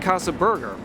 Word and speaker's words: Casa 13urger: got Berger and and I don't know if it was like Casa 13 burger or Kasa the turer and I've heard so many people pronounce it different ways yeah but it's just Casa Burger simple enough Plus what's in